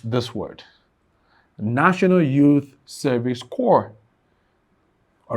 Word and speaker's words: Corps: The letter C of NYSC is this word, National Youth Service Corps. All right, so this is core, and it rhymes the same with core here.